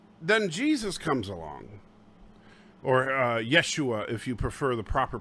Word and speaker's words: Yeshua: each year well then jesus comes along or yeshua if you prefer the proper pronunciation and jesus comes in and performs the